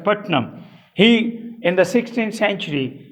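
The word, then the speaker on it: Puttenham: p u t p-u-t-e-n-h-a-m as if it were putin ham but they don't pronounce it as putin ham they pronounce it as putnam he in the 16th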